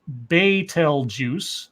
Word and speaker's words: Betelgeuse: he told CNN that beeld used pronounced Beitel juice oh my bad good that sounds so snooty baitul juice don't give me the